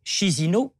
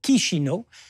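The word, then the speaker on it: Chișinău: ça c'est l'histoire ancienne la capitale de la Moldavie c'est shizino en tout cas il faut prononcer kishino enfin dernière précision il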